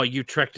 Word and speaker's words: Utrecht: Oh, Utrecht in Holland. That's how you pronounce it.